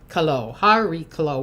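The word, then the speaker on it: Chariklo: H Harrio Harolo without the C, not but someone else says that you need to make it sound with a K.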